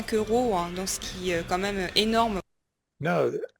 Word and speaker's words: ce qui: that I was wrong earlier today, and she says, Donc ce qui est. right. Everybody hears that? Yep. Mhm. And of course, she does pronounce it as ski and not two syllables, Right.